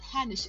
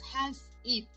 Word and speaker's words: Hans Eat: Okay, it's not Hanish, it's Hans Eat.